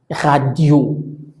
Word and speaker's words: radio: se pronuncien o no, la sílaba tónica es la que voy a pronunciar al final, por lo tanto decimos radio, radio.